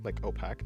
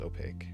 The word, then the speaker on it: opaque: I thought people pronounced it opac not opaque. Um, I think it's pronounced opaque.